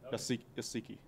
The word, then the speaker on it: Uasike: And now we'll not mispronounce his name from now on. Yeah, it's Lucky Okay. Asiki.